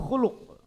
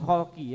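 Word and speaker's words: خُلُق: maaf kemudian w husnul khuluk dan bagus akhlaknya atau bagus ee perilaku bukan w husnul khalqi ya w husnul khuluk dibaca bacanya domahdomah kasrah wa husnul khuluk bagus ya budi pekerti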